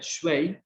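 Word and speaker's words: 水: Entonces, si ven, ahí a la izquierda tienen justamente lo que sería shui, se escribe shui, se pronuncia shui, y que es agua.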